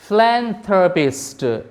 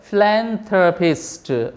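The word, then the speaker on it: philanthropist: थ्र थ्र फिलन ये देखिए पिस्ट फल पिस्ट फिलैंथरोपिस्ट इसका जो सही उच्चारण है फिलैंथरोपिस्ट फिलैंथरोपिस्ट फिलैंथरोपिस्ट फिलैंथरोपिस्ट अब बोलिए बारबार फिलैंथरोपिस्ट फलन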